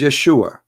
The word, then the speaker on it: Yeshua: pronounce the correct word the correct word in the Hebrew is Yeshua as simple as that